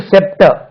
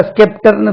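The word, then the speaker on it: sceptre: செங்கோல் அதே செப்டர் அதாவது இது பார்த்தா ஸ்கெப்டர்னு சொல்ற மாதிரி இருக்கு இது ஸ்கெப்டிக் இந்த இடத்துல செப்டர் அப்ப எப்படி அதை கண்டுபிடிக்கிறது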